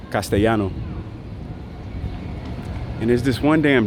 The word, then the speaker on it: Castellano: It's just Spanish, or what they call it here is Castellano. That's how they say it, Shano, Castellano. But in regular Spanish, it's Castellano.